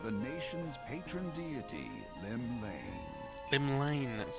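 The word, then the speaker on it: Llymlaen: Limlane, that's how it's pronounced.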